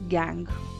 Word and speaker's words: gangue: मे बी यू कैन गेट any other pronunciation of this word, but mainly the right pronunciation of this word is गैंग।